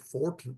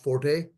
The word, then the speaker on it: forte: you like the word some purists say the word is fort f o f o r t not Forte uh but anyway whatever word